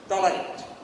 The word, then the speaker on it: tolerate: Tolerate, wrong pronunciation. Tolerate. Tolerate is the accurate pronunciation.